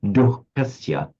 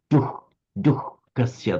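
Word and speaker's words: duḥkhasya: slight h sound, duh, Many people just pronounce it as an ordinary duhkasya. But if you're being really, really pure and Vedic about it, it would come out as a duhkasya, the h sound, which is exactly what you did.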